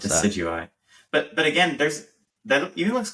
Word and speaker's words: Decidueye: but I don't know how to pronounce that. Decidueye.